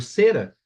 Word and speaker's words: Cera: tribo de índios, o Cera. Então a palavra cera sem acento gráfico também existe, mas tem uso muito reduzido. É uma palavra paroxítona, tendo a sílaba tônica, o cera, certo?